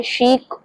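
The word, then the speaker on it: chic: अब लिखा उसको किस तरीके से और बोल हम बोल रहे हैं शीक शीक बल्कि सी और एच का साउंड वैसे हमेशा च का आता है बट इस वर्ड में शीक शीक शी was looking शीक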